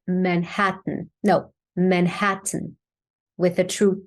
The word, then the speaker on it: Manhattan: man Manhattan yeah okay so we have three syllables here right man and hat three different syllables uh and we have the a as in cat that I talked about two times actually so the word man that's the a as in cat open your mouth a lot so we